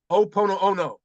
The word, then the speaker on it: Ho'oponopono: Called Ho'oponopono.